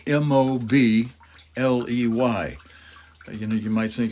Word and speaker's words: Mobley: or write it down and Fred Mobley spelled m-o-b-l-e-y you know you might think it's like Mobly but he pronounces it Mobley and these are prayers Walter